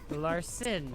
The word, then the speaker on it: Larson: But I don't want it to pronounce son. It's just Larson.